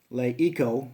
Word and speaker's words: Eco: The Eco, like ecosystem, that's how I keep remembering. That's how they want it pronounced, Eco.